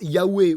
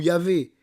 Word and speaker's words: Yahvé: L'Éternel, c'est le tétragramme YH qu'on prononce usuellement par Yahé ou Yahvé et qui est le nom de l'alliance.